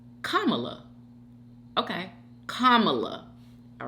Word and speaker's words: Kamala: over here trying to say this one I Kamala kamla okay Kamala all right DM 1969 oble says ymy you